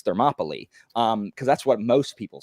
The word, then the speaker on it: Thermopylae: the AE in Latin, the AE diphthong in Latin is an I sound. So I pronounce it like that. So I think in Greek it's Thermopylae, because that's what most people say.